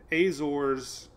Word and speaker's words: Azores: thing we're watching is Rebecca Rebecca is another Azores storm you notice I got the word right